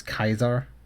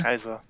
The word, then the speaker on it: Kaiser: Also, it's Kaiser. That's stupid. That is stupid, yes. But the people of the Wasteland are stupid. The German pronunciation. Yeah. Kaiser.